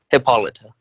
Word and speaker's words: Hippolyta: meta report on Hippolyta Hippolyta how do you pronounce her name Hippolyta okay that's how I thought hey I always say Hippolyta for some reason anyway so uh this is